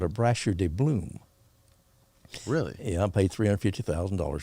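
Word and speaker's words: Brasher Doubloon: Brasher de Bloom. Brasher de Bloom.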